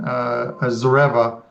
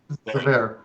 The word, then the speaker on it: Zverev: look at the other one, it's Cork and Zareva. Did I spell that? Did I say that right? Zverev.